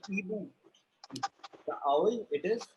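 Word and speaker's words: hibou: H is not pronounced in French. Okay. So it is Ibu.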